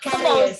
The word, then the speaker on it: curious: Not Curious. curious. Not curious, not curious. It's curious. There's yes sound there.